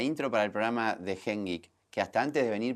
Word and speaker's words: GenGEEK: a hacer la intro para el programa de Hengek, que hasta antes de venir para acá no sabía pronunciar el nombre del programa, pero después de pasarlo tres veces lo aprendí. El programa se llama Hengik.